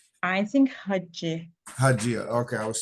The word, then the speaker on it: Hagia: Is it Hagia or Hagia? I think Hagia.